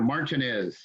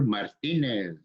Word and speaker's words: Martinez: You know, we were no longer Martinez, we were Martinez. We were never, we weren't anymore. My name wasn't, We started, you know, pronouncing our names with that accent.